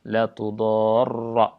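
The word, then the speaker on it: لا تضار: Asim, ya, seperti biasa bacanya dengan fathah, la tudarra, ya. Dan dibaca panjang 6 harokat kalau dari sisi tajwidnya, karena ini adalah merupakan mad lazim.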